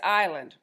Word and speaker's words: island: out the word that's island Roosevelt told her you don't have to say that s sound Roosevelt collapsed his telescope